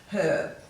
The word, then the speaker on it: herb: Now, sometimes in some nationalities the H at the start of herb is silent, so some people will say herb and some will say herb. The correct pronunciation should be with a silent H, so it should be herb, but in Australia we typically say herb.